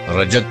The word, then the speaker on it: رجعت: ने सवाल किया है रजत के हवाले से रजत कहे या रजत कहे इसका लफ जो है ना व बाज लोग इसको रजत प्रोनाउंस करते हैं बाज रिजत प्रोनाउंस करते